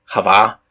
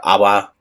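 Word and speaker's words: חַוָּה: of all living and that name Eve or in Hebrew would be Hava or AWA depending on how you want to pronounce it there's a couple of different options that general idea it's really hard to get over into English that's why you have something in Hebrew that sounds like Ava and we end up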